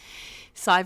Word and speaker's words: Sadhbh: Sadhbh rhymes with 5.